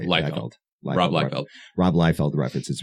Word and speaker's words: Liefeld: Liefeld.